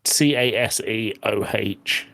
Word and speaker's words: CaseOh: Is it Queso the same way it's spelled for the food? No, it's Caseoh.